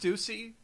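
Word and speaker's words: Stussy: did get hurt but I think she's okay Stuy who did not die is it pronounced Stuy yes yeah okay I've been pronouncing it the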